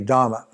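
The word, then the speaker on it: दम: It's called Dhamma. D-A-M-A, Dhamma. Not Dharma, but Dhamma.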